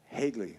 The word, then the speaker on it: Hegley: drums and Mr Matt is your last name pronounced hegley correct hegley exactly correct I didn't even study